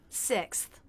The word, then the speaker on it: sixth: We start with the S sound, tongue tip down, teeth together. S. Then the I as in sit vowel with a little jaw drop. Si. Now we have the K, S, and TH sounds together.